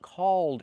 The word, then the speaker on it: called: Let's change the vowel, not O like code, but ah, like ball. Ah, ah. Make the sound back here. Use your muscles in your throat. Ah, ah, ah, caw, caw. Then make the dark L.